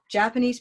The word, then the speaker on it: Japanese: And so here, when we have Japanese by itself, I speak Japanese, Japanese people are lovely. And suddenly, it's no longer here, it's here. It hopped by 2 syllables.